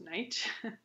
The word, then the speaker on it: night: In Middle English, night was pronounced knicht, and now it's pronounced night.